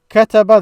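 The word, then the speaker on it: كَتَبَ: So kataba, that's how it's pronounced and written in the past.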